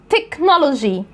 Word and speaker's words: technology: طب الكلمات ديت بتتنطق كي، كي، فانا بقولها technology.